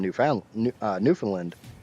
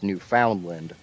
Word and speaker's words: Newfoundland: They're from Newfoundland. Even though if you phonetically sound out the name, it's Newfoundland. But it's from what I've always been told is pronounced as Newfoundland.